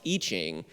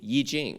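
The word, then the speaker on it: I Ching: that i-c-h-i-n-g is prone is spelled with an i but pronounced eaching well that's why pinyin spells it y i j j i n g yi jing so you just sort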